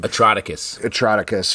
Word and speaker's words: Atrocitus: Atroticus. Who it's was like atrocity.